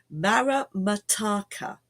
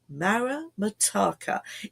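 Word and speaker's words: maramataka: also known as uh ra Mara I'm not doing it right don't I wish don't I wish that there was pre-recorded and I could present to you perfect pronunciation this morning Mara mataka thank you Mara mataka is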